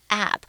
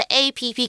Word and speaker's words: app: 所以我也蛮喜欢 Tracy 的，因为我也可能会做这个事情。他说 Let's download the festival app. 我们来下载音乐季的应用程式。That should have 就是上面应该会有就是什么样的资讯啊？那在课文是提到的 all the information 上面可能会有所有有关音乐季的资讯哦。App 这个字哦，记得大家不要再念成 app， that's wrong， OK？就是app，这就是 application 的缩写啊。对，如果是 app，感觉它是3个字 A 什么 P 开头的字，然后再另外一个 P 开头的字，但是它其实就是 application